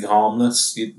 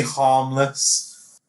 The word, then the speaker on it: harmless: I like this twist that it is this guy who, from the outside, is completely harmless. H. That H. Pronounce that H, Luke. Yeah. Completely harmless.